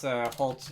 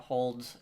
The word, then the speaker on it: Holt: Edward Holt, that's Holt, not Hold.